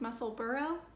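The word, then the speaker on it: Musselburgh: on my last video left a comment that it's pronounced muscle burrow it was very helpful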